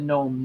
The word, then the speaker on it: Gnome: And the other one is Nick the Gnome Ninja. Now, there's a silent G in front of all of them.